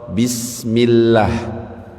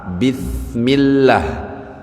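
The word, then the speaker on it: بسم الله: Contoh bismillah itu pakai sin artinya apa? Dengan nama Allah. Kalau kita ubah pakai huruf tsa bismillah artinya sudah beda dengan dosa Allah.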